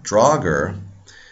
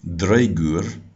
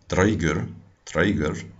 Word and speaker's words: draugr: of the draugr now draugr is not the correct pronunciation in modern icelandic it would be draeger dreigur in old icelandic probably much more similar to draugr and there's actually a